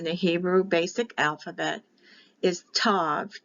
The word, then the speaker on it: Tav: for the letter T when there's a dotted there it is a hard sound for T without the dot it's a t h with the dot